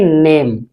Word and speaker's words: NAME: जैसे ये है और इसके बाद है NAME, इसे हम पढ़ेंगे नेम। अब जैसे GATE गेट, और भी काफी शब्द हैं। इसके बाद में ए का उच्चारण भी आता है, यानी बड़ी ए का।